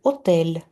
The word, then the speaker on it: hôtel: Puisque un hôtel commence par voyelle. H muet, H не читается глухое.